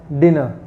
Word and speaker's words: dinner: Whenever R alphabet comes around in the last point of any word, it will not be pronounced. Okay, the word will be pronounced as dinner. The word dinner.